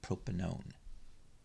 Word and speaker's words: propanone: becomes propanone so o-n-e it's pronounced own not one so propanone common name is acetone